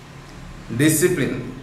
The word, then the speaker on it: discipline: Discipline, here D-I-S-C-I-P-L-E, C is deleted there.